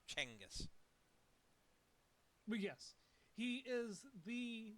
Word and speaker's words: Genghis: It may seem confusing to people, but it's actually pronounced Chenghis.